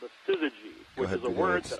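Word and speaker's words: syzygy: Uh sometimes they're they're actually fused together in what's called a sizzy, which is a word that I had only seen a couple of times uh because I play Scrabble.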